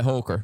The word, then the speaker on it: Holker: Is that how you pronounce it? Yeah, Holker.